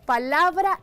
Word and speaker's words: palabra: Tenemos el término palabra y sílaba. Aquí tenemos palabra. La sílaba tónica de esta palabra es la, porque en ella se hace más fuerza al pronunciarse dicha palabra, la.